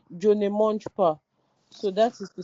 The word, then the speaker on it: Je ne mange pas: You write the negative sentence, you write Jo ne monj.